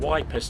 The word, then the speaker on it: Ypres: The name Wipers Times was a reference to the way many British soldiers pronounced Ypres, where they were stationed in Belgium.